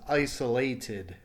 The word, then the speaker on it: isolated: Isolate. Ends in the T sound. Remember, this is your exception, right? So the past tense is isolated. Isolated. So it ends in the T. That, remember, means that your pronunciation is the id ending or the id ending. And remember, this adds an extra syllable.